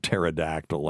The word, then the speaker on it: pterodactyl: ps include uh like pterodactyl and raspberry is a good one too. So, it's just a silent P and it's because the Greek had it and we don't we don't pronounce P's like that.